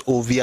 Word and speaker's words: Ovbi: No, it's not Ovi Adimula, it's Ovi Adimula. It's OVBI. That's the son of Adimula. Ovien means something entirely different. The people are called Ovien, but he is Ovi. And I'm pronouncing it the way it's spelled.